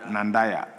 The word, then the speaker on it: Nandanda: Stanley Yao nand nandawi nandanda nandaya member of parliament for Uh thank you Mr. Speaker. Uh the right pronunciation is Nandanda.